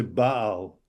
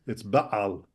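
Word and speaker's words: בעל: Now, some people would pronounce it just as one syllable. Baal. No. That means without, or they'll say Baal, and it's Baal. Baal. It's a little kind of constriction in there. Guttural, yeah. But it's very foreign to the Western way of pronunciation.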